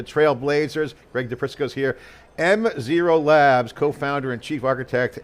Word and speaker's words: M0: to the zero power, how do you say that? Just say M0? Do I just say one? We just say M0.